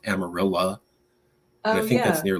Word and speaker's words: Amarillo: you go to Amarillo spelled Amarillo but that's how they pronounce it you can go to